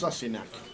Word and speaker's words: Sassenach: It's pronounced Sassinach.